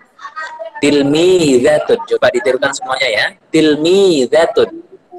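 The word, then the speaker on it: تلميذة: ada siswa putri cara bacanya gimana Ustad cara bacanya yaitu tilmiidzatun tilmiidzatun juga ditemukan semoga ya tilmiidzatun dan menjatuhkan meja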